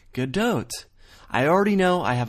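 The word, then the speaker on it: Gadot: supposedly said Gat when they don't pronounce it that way for the record that Israeli talk show ended up being one of the many video sources I've compiled that all say good doe I already know I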